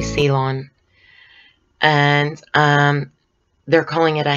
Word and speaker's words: Ceylon: says pure Ceylon tea I don't know if you pronounce that jaelyn but it's really Ceylon and they're calling it